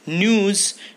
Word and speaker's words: gnu: Gnus are pronounced like news, are closely related to cattle, goats, and sheep.